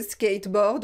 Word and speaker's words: skateboard: Alors voilà, c'est un mot anglais le skateboard, mais on le prononce avec l'accent français, un skateboard.